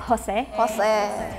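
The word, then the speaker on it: José: Like are you going to pronounce the J or not? I don't know. And Maria and an it could be like Maria or Maria. Hard to say which one it is. And then an is an. So that's my guess. Yeah, you're correct. Jose. We pronounce it as H.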